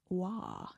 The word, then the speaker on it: Roy: There's a lot of uh Roy hockey players and some of them are pronounced Wah. Did you know that? They're from Crispen Quebec. Crispen. Wa. How do you get w from Roy? What? It's a French attitude.